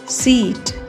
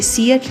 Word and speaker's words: SEAT: अगला वर्ड है SET सेट, SEAT सीट। इसमें भी दो वोवल हैं, ई और ए। ई की लॉन्ग साउंड रहेगी और ए साइलेंट रहेगा, तो ये सीएट नहीं होगा, सीट होगा, सीट।